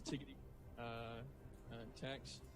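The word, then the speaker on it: TdTex: That is how you say it. For everyone that's wondering, it is Tiggity Tex.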